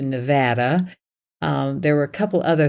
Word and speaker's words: Nevada: Like I said Nevada, and I had to change to Nevada.